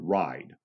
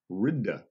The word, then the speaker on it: ride: At one time, the word ride would have actually been pronounced ridda. Ridda. Okay. If you go back to Middle English, that's the way that would have been pronounced.